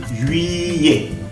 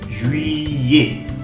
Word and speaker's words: juillet: U más I, juillet. Juillet. Y esa doble L no suena como la... No cometamos el error de pronunciar juillet. La primera sí, J, porque la J, la J, juillet. Esa doble L va a sonar como una Y.